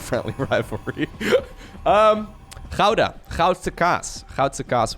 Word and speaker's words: Goudse kaas: Goudse kaas would be the Dutch pronunciation for that kind of cheese.